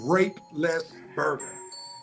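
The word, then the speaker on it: Roethlisberger: He said, wrong pronunciation, ref, said this way, rape-less burger.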